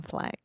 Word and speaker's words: flag: American flag the American flag yeah and one pronunciation tip just real quick the word flag this is the ah ah sound so this sound technically does not exist in Portuguese so you're not saying